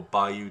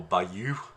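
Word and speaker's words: bayou: want to know but it's either pronounced by you or by you depending who's saying it um or by you as well sometimes with the accent on the the same syllable um so there's all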